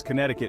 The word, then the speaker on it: Connecticut: published in New Haven Connecticut that's right this state was connecting people before was cool so next time you're dialing up a friend remember it's Connecticut and forget the C in the middle next Massachusetts where history